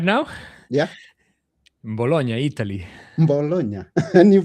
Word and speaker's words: Bologna: Bologna, and you pronounce it good.